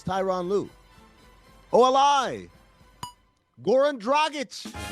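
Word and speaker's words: Dragić: Goran Dragic. It's like a dragon with an itch. That's what I've been saying since 2008. And people still say Dragic.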